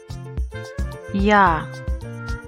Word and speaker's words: Я: Я. Stretch your lips and arch your tongue against the roof of your mouth, the soft palate.